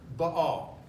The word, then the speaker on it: Baal: And the sound, the vowel sound comes underneath this letter, Baal. Baal promised two things to any who would worship him.